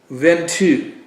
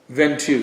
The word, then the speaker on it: Ventoux: So the first one we're going to do is the Gonnet La Jeanne Ventoux. No, that's not how you say it. It's La Jeanne Ventoux.